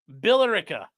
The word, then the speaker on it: Billerica: this name I don't know how do you pronounce that help me please help it's not wer wer see this is Bila Billa billera re Renee I'm trusting you Renee Bill R